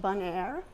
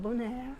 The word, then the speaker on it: Bonaire: And she was born in this little town called Bonaire, and that's how it's pronounced, not Bonaire or something like that.